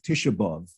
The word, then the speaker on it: Tisha B'Av: and the holiday of tisha b'av tish above in ashkenazi pronunciation it's listed as uh